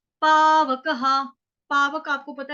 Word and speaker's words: पावकः: विसर्ग, विसर्ग, क के बाद विसर्ग आ गया तो यहाँ पे उच्चारण होगा ह, ह। ना तद भासयते सूर्यो, ना शशांको, न पावकः, पावकः, पावकः।